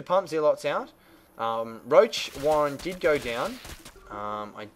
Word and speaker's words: Warren: the roach roach Warren I always mispronounce it and say Warden instead of Warren but it is roach Warren um the roaches did